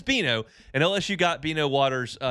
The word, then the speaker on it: Bino: And it's Beano. And And like I'm telling I'm being full disclosure here. I have a tab up with his statistics right here. And every time I'm about to say his name, I look down at the tab to make sure I say the right thing. I will say Dino at some point, but it is Beano.